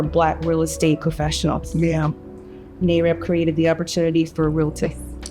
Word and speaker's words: NAREB: NAREB created the opportunity for realtors.